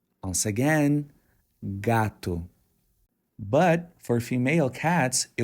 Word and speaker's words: gato: pronounce the Brazilian Portuguese word Gat the correct pronunciation is gat once again gatu but for female cats it would be Gata